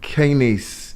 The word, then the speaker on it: kinase: So can you explain what a covalent kinase inhibitor is? Is it kinase or kinase? Kinase. Kinase. Yeah, we pronounce it.